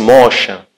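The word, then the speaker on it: משה: aula falamos do Moisés Moisés que é hebraico pronunciasse Mocha que significa aquele que tira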